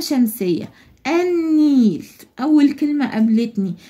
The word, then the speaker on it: النيل: النيل اول كلمه قابلتني اللام هنا انا نطقتها وقلت النيل صعبه انا قلت النيل والنيل بعد الالف واللام حرف النون وحرف النون لما يجي بعد الالف واللام بتبقى اللام هنا لام شمسيه مش كمريه النيل ما نطقت اللام